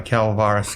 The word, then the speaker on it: Calvaris: that verlos uh 12 noggles 26 Cormac 21 calaris calaris calaris calaris calaris calaris calaris oh god I've been screwed on your name then c a l c a l v a r i calaris calaris yeah I read it's calaris I love